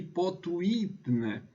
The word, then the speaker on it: potuitne: Vejam, aqui eu li potuitne, segundo a regra latina da chamada lei da penúltima sílaba.